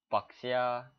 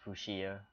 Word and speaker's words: fuchsia: Fuxia. That's how you pronounce it, right? Fuxia. I'm kidding. It's pronounced Fushia.